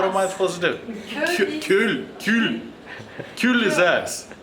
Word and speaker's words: cul: Cul is ass. No, you don't pronounce the L.